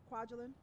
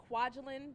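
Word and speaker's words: Kwajelyn: our communities here in the state of Georgia Kwajalein my name is spelled k w aj e l YN and i have plenty of business cards for anyone who needs that again later my name is Kwajalein and I'm the executive director of feminist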